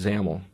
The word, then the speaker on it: XAML: are what we call zaml files you'll notice that they have the extension X AML even though it might not look like it at first that's actually pronounced zaml the xaml stands for